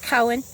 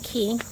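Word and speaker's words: Koehn: h-n up here that would be pronounced cohen because we have cones bakery and that's how it's pronounced so they same spelling um but they are pronouncing key that's okay um a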